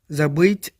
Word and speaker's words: забыть: ज़बीत एक perfective verb है, यानी मुकम्मल फ़ेल है, जिसकी मीनिंग है भूलना, टू फॉरगेट। और प्रोनाउंसिएशन कुछ इस तरह से होगी, ज़बीत, ज़बीत, ज़बीत।